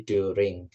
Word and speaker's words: during: Dan yang terakhir ketika bilang selama itu bukan daring ya, tapi during. Jadi U tetap U di sini, during. Thank you, Siti ya.